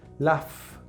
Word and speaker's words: laugh: Y puedo usar la GH en algunas ocasiones para designar ese sonido y decir laugh, ¿sí?